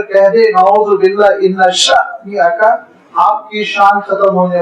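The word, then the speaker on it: شانئك: ان شانئک. شا آرام سے میں لمبا کھینچ رہا ہوں. دیکھیے خدا نہ خواستہ اگر اس پہ آپ نے حمزہ لگا دیا شانئک، کفر ہو جاتا ہے.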